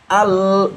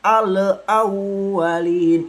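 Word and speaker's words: الأولين: Contoh yang betul seperti ini. Alawwalin. Jadi al jangan alwalin itu salah teman-teman ya.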